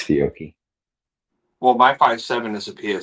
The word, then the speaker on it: Fiocchi: It's Fiocchi.